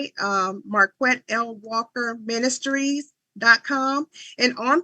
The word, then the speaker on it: Marquette: do me a favor marquet spell your name spell your website in case people because you know I was calling you MCA for a while so spell that out